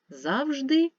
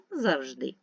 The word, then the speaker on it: завжди: мають по подвійні наголоси в українській мові є такі слова які мають подвійний наголос завжди і завжди можна і так Можна і так сказати буде правильно в обидвох варіантах на ваше домашнє завдання